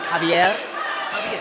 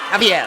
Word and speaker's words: Javier: I believe in the comments some correction on my pronunciation. Javier. Javier.